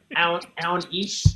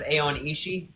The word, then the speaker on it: Aon Ishi: And Aon Ish instead of Aon Ishi.